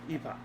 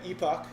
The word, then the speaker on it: Epoch: guys over at NGC gamesepic Epoch Epoch it's pronounced Epoch something like that it's a working